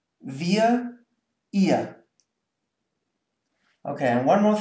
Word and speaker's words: wir: And this one is pronounced ihr. So there's no R whatsoever. It's wir, ihr.